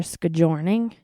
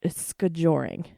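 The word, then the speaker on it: skijoring: signed up Rosie for scouring no SC scoring not scouring scoring I always say it wrong so it's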